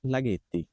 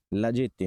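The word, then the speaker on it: laghetti: এর আগে আক্কা আসছে তো এইজন্য জন্য ওর উচ্চারণ হচ্ছে গর মত লাগেতি লাজেত্তি না লাগেতি ওকে শেষ মোটামুটি কঠিন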